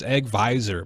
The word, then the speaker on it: AgVisor: or not egg Vision have I been saying it wrong this whole time it's egg visor man it's a Thursday yeah